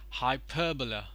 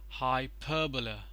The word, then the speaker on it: hyperbola: on layer so here is a stress parallelogram hyperbola hyperbola so the stresses on per pronounced as hyperbola parabola parabola the stress is